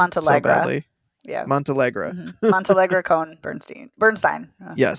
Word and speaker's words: Montealegre: The lifelong relationship of composer-conductor Leonard Bernstein and actress of Felicia Montealegre Con Bernstein. Did I butcher her name so badly? Yeah. Montealegre. Mm-hmm. Montealegre Cohn Bernstein. Yes. Here I am mispronouncing Bernstein's name.